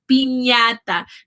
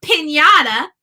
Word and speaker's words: piñata: In Spanish, we say piñata, not piñata, like we say in English.